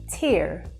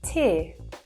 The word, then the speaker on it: tear: So just to explain that a little bit further, in American English, you'd hear tear, so you hear that R sound, but in British English, we would say tear, so it's very soft.